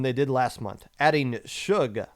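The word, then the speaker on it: $uge: did last month adding suge i believe is how that's pronounced s-u-g-e with the s being a dollar sign uh giving them five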